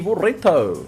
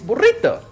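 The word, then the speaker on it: burrito: it properly damn it or me burito and I'm like no it's not burito it's borito it's borito damn it ah excellent you've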